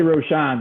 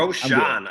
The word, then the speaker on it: Rochon: I say Rochon, but I'll whatever you got for me. Rochon.